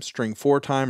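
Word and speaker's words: strftime: method called stf tiim you can either pronounce that string from time string for time or string formatted time but what you pass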